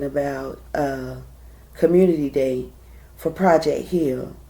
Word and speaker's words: Hill: community day for Project Hill. Hill, not Heal, but Hill, because that's how they pronounce it, Project Hill.